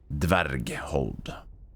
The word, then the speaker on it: Dverghold: That's at least how you say it, dverg. Dverghold. It's like dwarf, but cool.